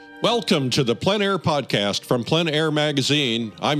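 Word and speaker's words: plein air: In the Planair podcast, we delve into the world of outdoor painting called Plen Air Painting.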